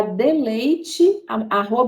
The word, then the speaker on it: Deleite: Nós trabalhamos, né, através de uma consultoria, que é a Deleite, @Deleite Amamentação. O D é mudo, para quem quiser procurar.